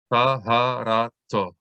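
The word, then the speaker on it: טהרתו: It only makes the vowel sound of O. So we would not say tav here. We would just say to. Taharato.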